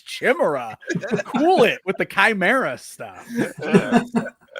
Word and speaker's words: Chimera: I decided we're calling him Chimra because everybody's got to say it wrong like me.